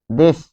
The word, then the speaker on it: দেশ: দেশ, যেমন দেশ, তাহলে এটির উচ্চারণ হচ্ছে দেশ। দেখুন, দেশ উচ্চারণে বানানে কিন্তু হসন্ত থাকে না, কিন্তু উচ্চারণে হসন্ত থাকে।